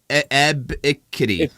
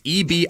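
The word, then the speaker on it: Ebiketie: Ebikity. A cat? You're switching the K and the B. It's Ebikettie.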